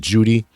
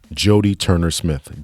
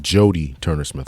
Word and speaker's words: Jodie Turner-Smith: She pronounced it Judy. The name of the actress in today's movie is actually Jodie Turner-Smith. Jodie Turner-Smith. A couple of times we said Judy.